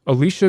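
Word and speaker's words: Elisha: we all knew and Alicia Gray that's spelled e-l-i-s-h-a like Alicia Cuthbert but it's an old dude not a hot young babe both were working independently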